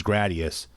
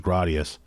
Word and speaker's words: Gradius: like everybody I knew said gradius same thing like radius just like with Ninja